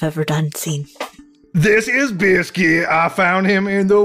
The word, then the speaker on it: Bisket: on uh yeah so you befriend um uh biscuit which is how you'll now lovingly refer to him it's spelled b-i-s-k-i-t Biscuit the pets